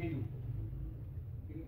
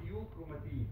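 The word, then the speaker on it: euchromatin: طب كروماتين طبيعي بيقولوا عليه يو كروماتين، اسمه يو مش ايو، النطق الصح يو كروماتين، عشان في ناس كانوا بينطقوه ايو، ايو ده اسمه نطق غلط، اسمه يو كروماتين.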